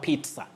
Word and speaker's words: pizza: Betty, you can also remember pizza. Pizza. It's P-I-Z-Z-A, but you say pizza, not pizza or pizza.